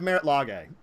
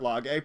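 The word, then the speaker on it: Marit Lage: That's why I have Merit Lage. And I've never played Merit Lage, but I really, really want to. I think it's pronounced Merilage or Lage.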